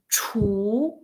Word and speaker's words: 厨: So about this 厨, the consonant it seems like teacher so we pronounce 厨.